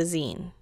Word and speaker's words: zine: Los Angeles Public Library they are pronounced like the word magazine but without the mag so just the zine genes these are self